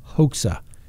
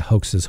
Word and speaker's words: Hoxha: her daughter travel to meet with 20-year-old Gesart Hoxha, G-E-S-A-R-T-H-O-X-H-A. I guess common pronunciation.